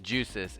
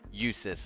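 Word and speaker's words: Jusis: Okay, it's not Juices, it's Usis. Okay, as I thought, it felt like a name where the J is silent and it's a Y sound.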